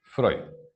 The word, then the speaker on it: Freud: Freud. Primero voy a mencionar a Freud. Ustedes saben, se escribe Freud, pero se pronuncia Freud, ¿no?